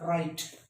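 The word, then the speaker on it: write: और बसल, hustle, often, हेसन, WY याद कर लेना है, राइट।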